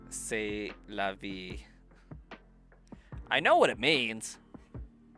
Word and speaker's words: c'est la vie: But, like, I read that as sieste la vie. But, like, I know that it's pronounced say.